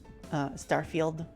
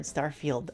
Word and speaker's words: Starfield: Starfield will be their first party game next year. Every time I see the word Starfield, I can't help but like pronounce it the way Garfield's pronounced.